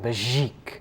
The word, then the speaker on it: Begic: more time well him pronounce it like it was French so you go like Bezique Bezique yeah a little